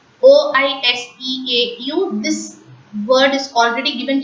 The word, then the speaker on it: oiseau: OISEAU. This word is already given to you as an example. Oiseau. S in between the two vowel sounds, they are pronounced as is.